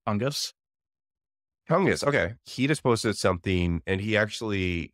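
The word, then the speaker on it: Tunguz: but he left Thomas I think the name is pronounced tungus okay he just posted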